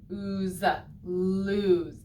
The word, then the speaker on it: lose: of oh lose so this o in the middle kind of sounds like ooh but in this word lose it's just an o and a silent e even so this word lose doesn't even really follow the rules oh lose did you